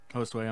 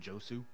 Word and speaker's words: Josu: Hostway, I'm a bad person and I will stop mispronouncing your name. Who? Hostway? I was calling him Josu.